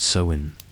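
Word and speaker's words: Samhain: In ancient Celtic lands, this time was called sewin, pronounced sewin, a word that meant simply summer's end.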